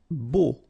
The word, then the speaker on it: beau: Beau. Okay, so remember we've got this strange combination of vowels. A, U, so 3 vowels, but then phonetically it's only O.